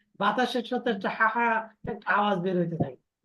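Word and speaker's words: ح: আওয়াজ বের হইতে থাকে না বাতাসের সাথে একটা হাহা একটা আওয়াজ বের হইতে থাকে এই মানে এই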